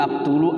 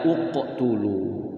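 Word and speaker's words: اقتلوا: giib juga ya iqtulu aktulu Apa utulu benar kalau diwkan b kalau diwal mubinulu Ya tapi kalau dimulai dari e awal Bacanya adalah uqtulu ya nih dicatat nih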